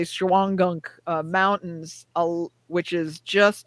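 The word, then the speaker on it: Shawangunk: the time there's the you're not going to pronounce this right Shaw and gum so we would just say shuangunk uh mountains which is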